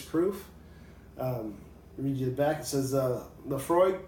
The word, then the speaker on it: Laphroaig: by volume 86 proof media's acts as a Laphroaig pronounced Laphroaig is an all malt scotch whisky from the